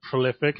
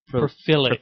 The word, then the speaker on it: prolific: for about a year I'd say Prophilic. prophilic. Like that was a fucking word.